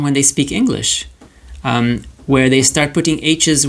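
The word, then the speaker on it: homme: So the letter H is usually silent like in front of the word for man or mankind which is um um um um and notice I don't say hum.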